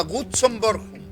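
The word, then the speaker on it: Gutzon Borglum: Se llama Gutzon Bornholm.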